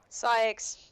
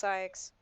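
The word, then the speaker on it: Saïx: up every single time psyx it's psychs yes this guy pissed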